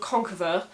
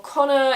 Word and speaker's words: Conchobar: of Ulster who is a guy called concur verb or Krueger or Connor if you want to take a modern Irish pronunciation but I really don't so I'm just going to keep calling him Conqueror yet despite having previously